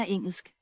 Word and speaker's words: engelsk: Jeg taler engelsk. Engelsk. Like, here, the L sounds different. You can hear like the... Jeg taler engelsk. Engelsk. Like, it's more like that.